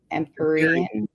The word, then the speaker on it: Empyrean: The Empyrean.